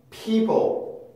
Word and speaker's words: people: people, people, people, people, people, people. 그러니까 P에서 L 발음은 넘어가면 po. 근데 P에서 L로 뚝 끊기는 게 아니라 중간에 혀가 움직이면서 만들어내는 소리가 있는데, 그게 바로 슈아 소리입니다.